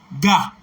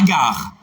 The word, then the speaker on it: gars: Gars. G-A-R-S, pas gare. Gars. G-A-R-S. Ne dites pas gare.